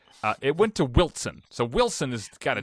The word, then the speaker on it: Wilson: Not when you spell it, but Wilson is that's a big one. Yeah. That's a big one. You have the silent T.